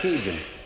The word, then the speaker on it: Cajun: In English, you pronounce that Cajun.